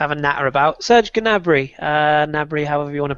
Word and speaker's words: Gnabry: Do we pronounce the G or is it silent? It is Gnabry technically, but it sounds silly.